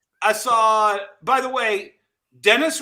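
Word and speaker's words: Denis: saw by the way dennis rhymes with tennis dinus rhymes with penis okay so if you put a d-e-n-i-s your dinus villanova quit [ __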